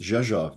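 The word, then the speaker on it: Rzeszów: at me and smiles she says oh it's pronounced jeja just like it's spelled and I kind of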